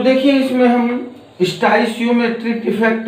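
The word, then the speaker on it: stoichiometric: इसमें पहला हमारा है स्टोइसियोमेट्रिक। स्टोइसियो लोग पढ़ते हैं लेकिन यहाँ टी साइलेंट होता है।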